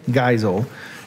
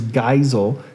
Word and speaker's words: Geisel: Seuss here on Reading Things with a Southern Accent, Theodore Seuss Ted Geisel is his real name.